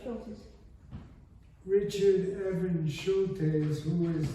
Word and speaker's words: Schultes: Now later in the book, there's, I may be mispronouncing Professor Schultes. No, that's right, Schultes.